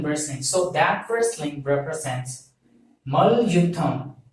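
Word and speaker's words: மல்யுத்தம்: So that wrestling represents Mal Yutham. So you have to pronounce this as Mal Yutham. So M-A-L, Mal, Y-U-T-T-H-A-M, Yutham. So Mal plus Yutham, Mal Yutham.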